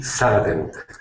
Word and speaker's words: sudden: You can swallow those D's. Uh-huh. Mm-hmm. Or you can also say sudden. Uh-huh. Yeah, so either way is fine.